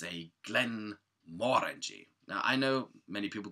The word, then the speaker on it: Glenmorangie: It's a Glenmorangie. Now, I know many people go like, what? It's Glenmorangie. No, it's not. It's Glenmorangie. If you ever go to Scotland, you'll find out. They will tell you.